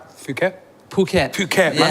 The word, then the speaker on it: Phuket: okay I went uh is it am I pronouncing it right Phuket Phuket Phuket I said yeah oh my God